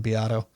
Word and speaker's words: Beato: I love Is that Rick how you pronounce his Beato.